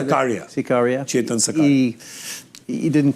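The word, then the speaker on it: Sakariya: Shakira, how do you say? Sakaria.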